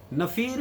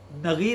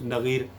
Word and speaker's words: نغیر: ساتھ کھیلا کرتا تھا۔ نفیر یا نغیر ہے، ناظرین اس کا تلفظ نغیر۔ آپ صلی اللہ علیہ